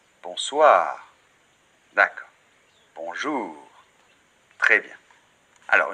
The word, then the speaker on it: bonsoir: en reparlera plus tard et le r finale bonsoir très bien sans tonique et toujours à la fin des mots en français donc c'est pas on soir non bonsoir d'accord bonjour très bien